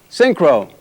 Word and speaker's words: Synchro: I'll spell it out. Sync. Crow. Synchro.